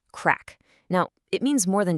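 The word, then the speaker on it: craic: It's spelled C R A I C and it's pronounced crack.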